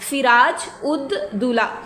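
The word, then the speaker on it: سراج الدولہ: कुछ इसको वैसे प्रोनाउंस करते हैं लेकिन ये इसकी करेक्ट स्पेलिंग और प्रोनाउंसिएशन है सिराज उद दौला।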